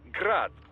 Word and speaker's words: Grad: the Ukrainian way but most in the business pronounce it as grad Russian style crazy to think I'd